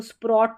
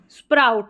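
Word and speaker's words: sprout: अब इसको स्प्रॉट तो पढ़ेंगे नहीं। ओ यू को आउ पढ़ते हैं। तो ओ यू टी को आउट पढ़ते हैं। तो आउट हो गया। स्प्र आउट।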